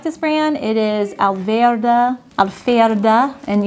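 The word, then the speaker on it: Alverde: It is Alverda, and you would say in German, you pronounce the V's with an F, Alverda.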